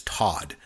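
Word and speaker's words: Toht: actually pronunciation is is Todd, but it's but I always but I always call him Tot. I believe in German would be pronounced Todd, but I call him Tote.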